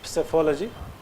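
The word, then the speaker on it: psephology: how do you pronounce psyphology p is not silent years yeah please not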